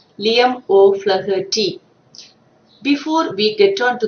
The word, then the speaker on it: Liam O'Flaherty: The pronunciation is Liam O'Flaherty.